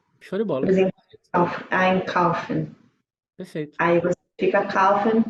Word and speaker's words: einkaufen: Quando você tá usando o verbo ali sem conjugar ainda, ele no infinitivo, a sílaba tônica recai em cima do prefixo. Então, é einkaufen. Einkaufen.